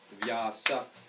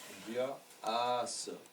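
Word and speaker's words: व्यास: So if a person has a long A in their name, we have to consider that as the following sound.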